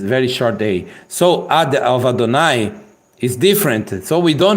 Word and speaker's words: Adonai: d h here is o n is a n and n Kam a and is y the sound of e so we say Adonai Adonai this word means